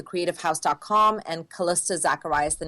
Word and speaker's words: Zackhariyas: but it's my first and last name Calista Zacharias is my Instagram ok and I'm just gonna spell it for everybody it's a za ck h AI r I why ASO it's kalisto Zacharias and yeah that's great I think my website